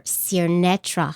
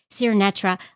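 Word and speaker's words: Sirnetra: name correctly sir netra I said it wrong last time and I don't want to say it wrong and she corrected me and so it's your netra sir netra I love your name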